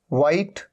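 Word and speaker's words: white: वाइट, यहां पर भी साउंड नहीं है।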